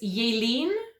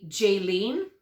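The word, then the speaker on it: Jalene: wrong but this is yelene from South Africa I would say Jaylene because that's how we would pronounce that name in Canada but that's not how she pronounces her name it's j-a-l-e-n-e and her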